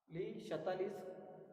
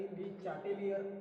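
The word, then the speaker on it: Le Chatelier: ली शतालिस, स्पेलिंगसाठी ली चाटेलियर असंही म्हटलं तरी चालेल, कारण शतालिसवरनं ली शतालिस प्रिन्सिपल त्याने चांगला शोध लावला आहे.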